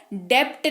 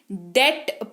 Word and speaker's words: debt: B silent हो जाएगा, तो इसको डेप्ट नहीं डेट पढ़ेंगे। क्या पढ़ेंगे, डेट पढ़ेंगे, क्योंकि बी को हमने यहां पर भूलना है।